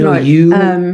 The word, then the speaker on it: Norwich: It's actually Norwich.